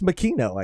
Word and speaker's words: Makino: and then I mean I guess it's Makino I guess we've been saying it wrong this whole time the crew the